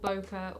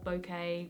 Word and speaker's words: bokeh: these blurry which is normally called bokeh or bouquet whatever you want to pronounce it as but that out-of-focus nurse